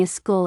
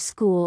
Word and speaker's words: school: For example, saying a school instead of school or a special instead of special or a state instead of state. English does not add an extra vowel before s plus consonant words. Listen carefully to the clean start.